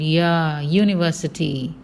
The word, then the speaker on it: university: At the same time, university has got the consonant sound, university.